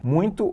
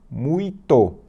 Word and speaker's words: muito: isso a palavra muito se escreve assim ó muito não tem ele mas a gente fala uns onde aparece um som de n muito Já pensou nisso